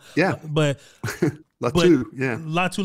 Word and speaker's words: Latu: I said it wrong yeah but lat yeah latu latu from he gave him a long day I'm